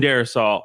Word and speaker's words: Darrisaw: Christian Darrisaw. Darrisaw?